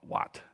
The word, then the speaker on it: Wat: A Buddha would call it Wat. That's how you say it in Thai, like a Buddhist temple.